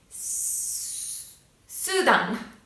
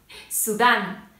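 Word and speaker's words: Sudán: キスタンパキスタン、ペルーペルー、スーダンスーダンのようにアクセントが、一番最後になります。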